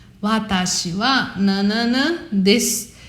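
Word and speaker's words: です: Você vai falar Watashi wa nanana desu. Watashi wa nanana desu. Esse desu, ele também é pronunciado como se não tivesse o u.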